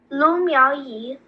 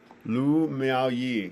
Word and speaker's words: Lu Miaoyi: Lu Miaoyi. Lu Miaoyi.